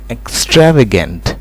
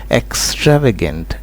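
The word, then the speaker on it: extravagant: आपने थोड़ा सा केयरफुल रहना है जब इस वर्ड को प्रोनाउंस कर रहा हूँ। इस वर्ड की प्रोनाउंसिएशन होती है एक्स्ट्रावेगेंट, एक्स्ट्रावेगेंट, राइट।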